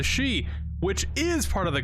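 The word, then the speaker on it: し: nine in Japanese however both for and the word death are both pronounced a she which is part of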